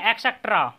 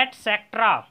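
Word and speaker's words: et cetera: और देखिए एक्सेट्रा, एटसेट्रा, इसका सही प्रोनाउंसिएशन होता है एटसेट्रा और इसका प्रयोग हम करते हैं आदि इत्यादि के रूप में।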